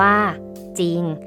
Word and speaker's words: จริง: เรา อ่าน ออก เสียง เสียง ของ รอ เรือ นั้น ไม่ มี เห็น ไหม คะ เด็ก